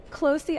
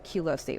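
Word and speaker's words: Qlosi: Closey actually makes so much more sense than Culosi, what I was saying.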